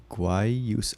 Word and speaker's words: Guayusa: Guayusa, pronounced Guayusa. Oh, it's Guayusa.